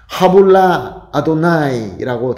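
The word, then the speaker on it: הָבוּ לַיהוָה: 여호와께 올려 드리세라는 것은 히브리어 원어 발음으로서는 하불라 아도나이라고 합니다.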